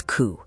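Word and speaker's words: 九: Nine is ku, sounding exactly like suffering.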